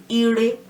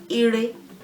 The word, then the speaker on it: ire: well, ire, ibi, ire, they have no tone marks on them. So rere for ire, rere for ibi. Re is the tone mark. We don't really put any mark on syllables that have the re tone anymore.